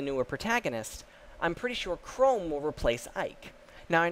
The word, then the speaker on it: Chrom: And yes, I'm pronouncing it Chrome, because the other way to pronounce it sounds really stupid.